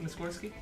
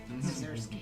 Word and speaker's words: Mazursky: is that pronounced Muskorski? Mazursky. Mazursky, yes. Mazursky.